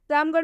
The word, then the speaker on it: रामगढ़: रामगढ़ में भी अंत में आर एच आया है इसलिए जो आर एच है उसका उच्चारण ढ हो गया है।